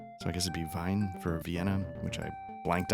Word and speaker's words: Wien: So maybe Wien, Vine. Thought in German when it's EI you pronounce, or IE you pronounce the second letter. So I guess it'd be Vine for Vienna, which I blanked on last time.